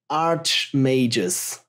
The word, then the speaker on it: Archimagus: It's pronounced Archimagus.